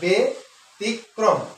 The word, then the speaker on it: ব্যতিক্রম: দেওয়া ব্যতিক ক্রম ব্যতিক্রম সঠিক উচ্চারণ হচ্ছে বেতিক্রম আমরা উচ্চারণ করে থাকি